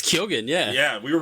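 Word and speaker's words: Keoghan: do you pron you you know how to pronounce his last name correctly it's kyogen yeah yeah we were right this whole time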